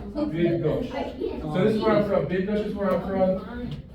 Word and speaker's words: Bydgoszcz: You got that double sh sound again? Bydgoszcz.